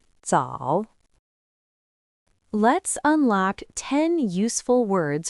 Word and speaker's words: 早: It is pronounced in the third tone. Repeat after me. 早早早 Let's unlock 10 useful words from this character.